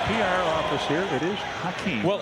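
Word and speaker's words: Hakeem: And that is the correct pronunciation according he missed the second one here. to the PR office. Here it is. Hakee.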